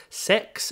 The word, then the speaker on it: CeX: fact at £50 from CeX or sex as I believe it's pronounced byby monetization I knew